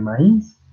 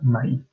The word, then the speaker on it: maíz: habría ser pero no nuestra palabra para maíz que es así con el énfasis del acento en la i por lo tanto son dos sílabas y se acentúan la